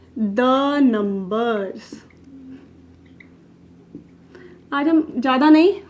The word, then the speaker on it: deux: फिर अपना आता है टू को फ्रेंच में कहते हैं द, DEUX is called as द।